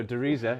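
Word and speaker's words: Der Riese: oh sorry I was I was corrected in Germany that I've been pronouncing it wrong all these years um so Dera yeah yeah um which is the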